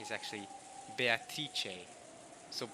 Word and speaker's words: Beatrice: I've just recently learned wasn't completely wrong, just needed a bit of a correction with the at the end, Beatrice, not Beatrice.